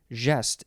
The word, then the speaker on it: geste: Interesting, because it's very similar to that last syllable. Next is chanson de geste. 3 words. De is the second word. Geste is Geste.